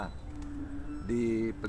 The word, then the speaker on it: ดีปลี: ดี ฟรี ดี ๆ คำ ว่า จะ รีบ ลี เขียน ยัง ไง ครับ รอ เด็ก สระ อี อ่าน ว่า ดี ปอ ปลา ลอ ลิง สระ อี อ่าน ว่า ฟรี รวม กัน ก็ จะ อ่าน ว่า ดี ปลี ดี ปลี แต่ ชาว ปักษ์ ใต้